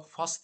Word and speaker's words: fast: Acaba Fast diye mi okunuyor? Evet, Oğuz haklı çıktı. Bugün Oğuz 2-0 önde arkadaşlar. İki yanlışımızı bulmuş oldu. Fas. Bakın British'ler biraz da fas. Fas. Fas. Amerikalılar yine yayvan.